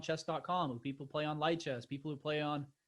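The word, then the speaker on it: Lichess: who people play on Light Chess, people who play on, or Lee Chess, I guess it's pronounced, all the different big chess sites.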